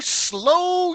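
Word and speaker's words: Slough: So hello slow UK. It's it's spelled like we would think sloth.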